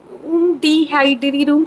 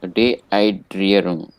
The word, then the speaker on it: Dehydrierung: Dehydrierung zu vermeiden. That's it. Man muss darauf achten, Dehydrierung zu vermeiden. Oh, dehydration. Dehydration. One must take care to prevent dehydration. Dehydrierung.